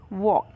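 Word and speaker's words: walk: वॉक pure rap joke वॉक के वॉक में यह जो ऑयल है वह साइलेंट है मोर मोर में यह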